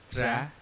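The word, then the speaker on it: très: They are pronounced as tra and après.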